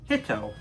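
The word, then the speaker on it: 人: because of a pun in japan man is pronounced hitto and starfish pronounced hitode they sound kind of similar so a starfish can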